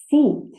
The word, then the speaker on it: seat: I sound sit now listen to another word seat can you hear the pronunciation seat e sound seat SE seat I